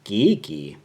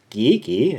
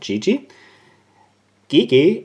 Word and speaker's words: GEGE: Lippe was sent to me it's a geeky yeah that's how you pronounce this brand geeky and not GG DK is a Austrian brand at least it started